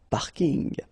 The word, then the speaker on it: parking: So I know it's coming from English, but still you should pronounce it the French way. Parking unl.